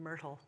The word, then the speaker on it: Myrtle: I love that name, Myrtle. Not just because it rhymes with turtle.